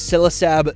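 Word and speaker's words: Ksilisab: And of course, the name is Silasab the K is silent because this is Basilisk backwards.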